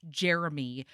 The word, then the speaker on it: Cheremy: Both of her friends are obsessed with this kid called Jeremy, which is pronounced Jeremy, but spelled Cheremy.